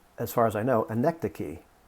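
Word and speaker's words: anecdoche: far as i know anecdocy although it looks for all the world like anecdotes and what it means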